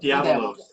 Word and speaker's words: Diabolus: And Diabolus. Did I pronounce that correctly? That's the devil. Diabolos.